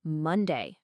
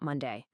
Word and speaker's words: Monday: First, for every single day of the week, the stress, the emphasis is always on the first syllable. It's the first part of the word that gets the punch. Listen, it's Monday, not Monday. It's Thursday, not Thursday. Always hit that first sound the hardest.